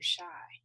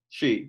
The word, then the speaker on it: Shai: Are you she or are you shy? She, yeah.